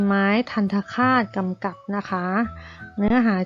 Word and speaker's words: ทัณฑฆาต: กัน นะ คะ อ่า ทัณฑฆาต ราคา อ่าน ว่า ทัณฑฆาต นะ คะ ธรรทดา แปล